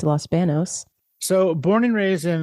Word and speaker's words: Los Banos: bathroom yes Los BOS which Los BOS all pronounced Los Banos so born and raised in Los Banos California